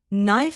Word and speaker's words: knife: For example, knife starts with a K sound, but the K is silent.